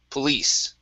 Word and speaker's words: police: So the stress is at the end of the word, police. At the end. Police.